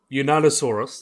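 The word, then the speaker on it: Yunnanosaurus: Unanosaurus.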